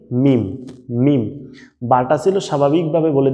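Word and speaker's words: ميم: দুই ঠোট শুকনা জায়গা দুই ঠোটের শুকনা অংশ দুটো যদি একত্রিত করে বলেন মিম তাহলেই কিন্তু উচ্চারণটা সঠিক হয়ে যাইতেছে মিমের আপনাদেরকে আরো সহজে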